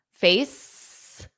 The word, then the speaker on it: face: Face. So the CE, just like we saw with ice, the CE is pronounced as just S.